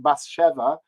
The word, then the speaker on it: Bas Sheve: on the stage so i'm going to use the yiddish pronunciations that are actually in the libretto for the character so we have bathsheba who's pronounced basheva and nathan who's pronounced nassen and shalia which is